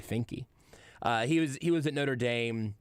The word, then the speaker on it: Finke: So Finke. I guess it could be pronounced either Fink or Funk. I think it's probably Finke.